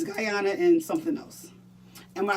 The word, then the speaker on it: Guyana: How do you pronounce it? Guyana? Guyana.